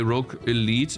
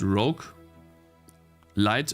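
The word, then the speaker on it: roguelite: advised by the way Rogue Elite is pronounced Rogue light and not Elite Rog light Rog lead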